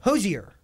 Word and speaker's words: Hozier: That's not how you say his name. How do you say it? No, Hozier is actually correct.